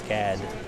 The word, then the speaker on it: SCAD: I said it wrong. I said Shad, it's SCAD.